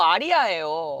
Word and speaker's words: 아리아: 아 아리 아니고 아리아예요. 아리아가 플레임이야.이 사람들이 잘 몰라. 아리가 아니고 아리아야.